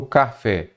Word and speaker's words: café: de cada uma delas por exemplo café você começa a contar da direita paraa esquerda então a sílaba tônica a sílaba forte é qual o fé paroxítona é a penúltima